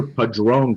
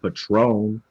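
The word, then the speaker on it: Padrón: cao called cow right i still hear padron called patron like the tequila you know what i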